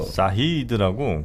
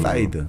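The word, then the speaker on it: Said: 그러니까 오늘 뭐 먼저 에드워드 사이드 이야기를 조금 더 사히드라고 그 사이드. 네. 저 로스트라는 미국 드라마 있잖아요. 미드. 네, 미드 로스트 보면 네. 중동 사람 하나 나와요. 그 사람 이름이 사히드입니다. 정통 발음이죠.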